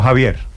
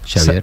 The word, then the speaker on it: Xavier: No Javier. No, Xavier. Xavier.